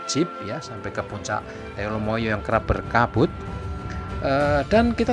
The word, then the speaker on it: Telomoyo: atau teh lama ya dalam bahasa Jawa penulisannya pengucapannya Telomoyo maka Berikut ini adalah kita akan berbagi pengetahuan